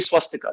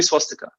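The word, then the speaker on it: स्वस्तिक: b-h-a-g-a-v-a-n are also similar so for us the sanskrit pronunciation is only swastika there is no swastika with a w there's no swastika the v it's only swastika similarly that word does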